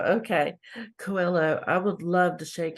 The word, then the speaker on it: Coelho: I would love to shake Tony I cannot pronounce his name. Coelho. Coelho. Okay. Coelho.